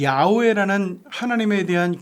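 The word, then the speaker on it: 야훼: 2 영어로 번역이 됐는데 영어에서는 야외 라는 발음 자체가 안 돼요 그래 가지고 그것을 음가를 따가지고 하다보니까 야외 하나님이 이어 호와 r 아치 호바 재호가 하나님 으로 바뀌게 되죠 그런데 우리나라 사람들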